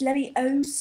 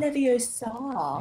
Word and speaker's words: Leviosa: Just remember, it's Leviosa, not Leviosa. Indeed.